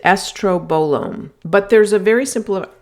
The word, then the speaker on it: estrobolome: know, it's it's yes, it sounds like something from a Star Wars spin-off, and you pronounce it estrobolome, but there's a very simple simple explanation as to what that is.